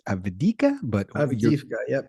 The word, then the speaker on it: Avdiivka: pronounce it because I'm going to butcher the pronunciation. I think it's Avdiivka, but Avdiivka. Yep. Avdiivka.